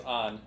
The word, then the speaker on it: Ann: love with on yes her name is on not anne said that right let's turn in